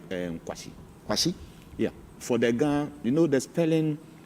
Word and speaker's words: Kwashi: the end of the Kwashi. So how well should you? So it is KWASHI. And that's all. That's all. Or else with the E to be Kwashi. If you want to pronounce it that way.